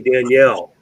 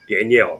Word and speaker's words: Danielle: And we had the bombshell, Haley Danielle. Don't mispronounce her name, by the way. Apparently she's touchy about that. Danielle, not Daniel.